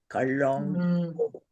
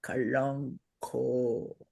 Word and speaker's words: kalanko: It has a Kalanko. nasal. Kalonko. With a long O. Kalonko.